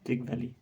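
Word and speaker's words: Trygve Lie: Nations का व था त्रिग वैली ठीक है इसको त्रि वैली भी बोलते हैं त्र वैली भी बोलते हैं आपकी मर्जी जैसे प्रोनाउंस करो हमें प्रोनंसिएशन से कोई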